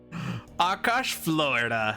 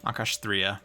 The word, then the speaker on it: Akash'Thriya: I just call it Akash'Thriya. Akash, Florida. No, Akash'Thriya.